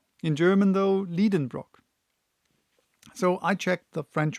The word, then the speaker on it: Liedenbrock: I pronounced it the way I would pronounce it in German and not how I would pronounce it in English. Professor Liedenbrock, which is spelled Lieden, Brock.